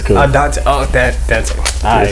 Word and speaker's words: Dantae: That's how I pronounce it, right? Dantae, but it's cool. Dantae. Oh, Dantae.